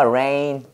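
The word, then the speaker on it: reign: 해봐 rain 똑같아 발음이요 뭐랑? rain이랑 똑같아요.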